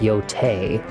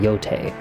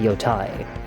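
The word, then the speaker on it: Yōtei: that you guys are saying out there it's pronounced Yote. Okay, it is pronounced Yote. They they actually say it in the game, Yote, but I think it just sounds dumb. So, I call it Yai.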